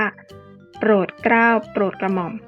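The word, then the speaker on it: โปรดเกล้าโปรดกระหม่อม: ที่ ยก มา นี้ คำ ว่า โปรดเกล้า จะ ต้อง อ่าน ว่า โปรด เกล้า โปรด กระหม่อม นะ ถ้า คำ ว่า กรุงเทพฯ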